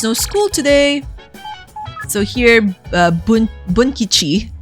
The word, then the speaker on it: Bunkichi: So here, Bunkichi, I always, mispronounce his name. I always end up saying Bukichi.